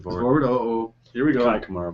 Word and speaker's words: Kai Kamara: Kai Kamara, by the way. Kai Kamara. I know I was saying his name wrong, but yeah.